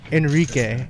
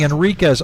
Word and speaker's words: Enrique: You mispronounced my last name. Oh, say it again. Enrique. Enrique. And I've been saying Enriquez.